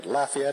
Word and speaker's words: Lafayette: By the way, Lafayette is the correct pronunciation of that word in the town near where he grew up.